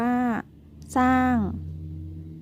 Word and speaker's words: สร้าง: ที่ สอง ก็ คือ คำ ควบ กล้ำ ไม่ แท้ ที่ ออก เสียง พยัญชนะ ตัว หน้า เท่า นั้น นัก เรียน ลอง มา